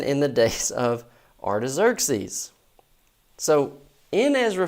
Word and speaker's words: Xerxes: used to joke Artis Xerxes uh sometimes a hazah hurus is just called Xerxes and guys would get in the book and they'd start reading it they'd say x orx that's look the pronunciations these are